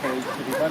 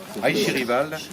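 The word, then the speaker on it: Aixirivall: celle-ci, donc Sampere d'Aix-et-Rival, ça se prononce Aix-et-Rival, voilà.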